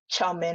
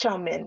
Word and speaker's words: chow mein: going to be called guyanese chow mein it's pronounced chaumin in guyana the second one is going to be called nebulary and the third one is named spam dainese chow mein pronounced chomin in guyana hated it with a passion as